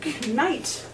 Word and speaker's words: knight: It's Anglo-Saxon, and the K used to be pronounced. It used to be, I know, I knight, my knight in shining armor. They really did pronounce that.